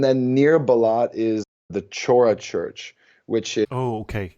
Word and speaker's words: Chora: Well, and that is possibly my favorite site in Istanbul, Saint Savior on Chora, Yeah. or Chora, depending on your pronunciation there.